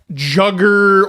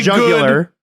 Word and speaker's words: jugular: basically, if this year's jugger, I almost said it. Yeah. I didn't say the third syllable. I'm not CJ. This year's extremely Go for the jugular.